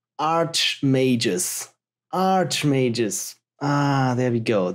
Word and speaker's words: Archimagus: It's pronounced Archimagus.